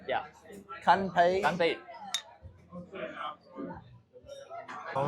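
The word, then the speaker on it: 干杯: Ganpei. Ganpei. Oh, it's like Japan where they say kanpai. Yeah. Kanpei. Ganpei.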